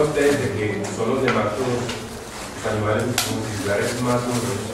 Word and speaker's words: nematodo: del esófago de los nematodos. ¿Qué capítulos ven, muchachos? Importante que también sepan, muchachos, que esta palabra no lleva tilde.